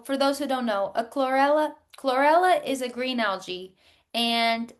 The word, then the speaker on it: chlorella: I want to say chlorophyll, but I don't know what chlorilla. Chlorella, chlorella.